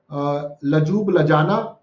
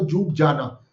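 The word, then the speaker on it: Ljubljana: Slovenia का capital is लजूब लजाना, और अगर एल साइलेंट है तो जूब जाना, दोनों में ही है।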